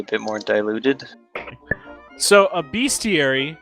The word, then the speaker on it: bestiary: So a bestiary is Bestiality. a description Bestiality. Bestiary. Yeah, that's how you spell It's- bestiary.